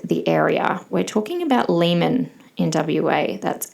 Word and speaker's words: Leeman: If you are not familiar with the area, we're talking about Leman in WA.